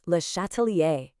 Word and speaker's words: Le Châtelier: And here he is, French chemist Henri Lhatalier. And just so we're all on the same page, it's pronounced Lhatalier.